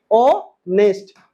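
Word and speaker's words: honest: ऑनेस्ट में क्या आया? देखिए बताइए क्या आया? ध्यान से देखिए। ऑनेस्ट में आ गया आपका ओ। क्या आया? ओ। ओ क्या है? स्वर वर्णन है। इसलिए जब भी प्रोनाउंसिएशन में स्वर वर्ण आ जाए तो आप क्या लगाइएगा बताइए? एन लगाइएगा।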